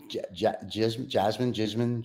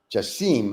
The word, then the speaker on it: Jasim: Jasmine. How do I pronounce his name again? Jasim. I'm sorry. Now Jasim.